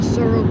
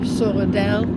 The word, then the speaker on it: Sorel: Sorel. Like you put your tongue on top instead of Sorel with the tongue on your bottom of your mouth. You put Sorel with it on the top of your mouth.